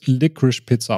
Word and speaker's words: Licorice Pizza: mal zur Einstimmung also laut diversen Interviews wird liquage Pizza ausgesprochen ich hab noch irgendwie